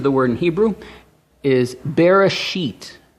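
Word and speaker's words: בראשית: This is the word in Hebrew, is Bereshit. Okay, that's how you say it, Bereshit.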